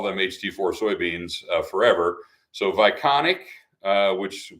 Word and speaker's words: Vionic: ht4 soybeans forever so Vionic uh which spelled with a V so it's not B bionic it's Vionic uh is is the new